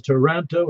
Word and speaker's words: Toronto: but nobody in Toronto, even though it's spelled Toronto, says Toronto. It's Toronto. You leave out that middle O.